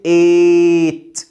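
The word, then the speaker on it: eight: ايه بنطقها لونج اي الاي اي جي اتش بنطقها لونج اي زي كلمه ايت ايت الاربع حروف دول بنطهم حرف واحد اي جي اتش بنطقهم اي لونج ايت ايت كمان كلمه ويت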